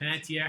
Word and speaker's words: Panettiere: Panettiere is correct. Panettiere.